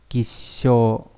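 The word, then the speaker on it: 吉祥: Ví dụ, trong từ cát tường chúng ta sẽ đọc là kisho.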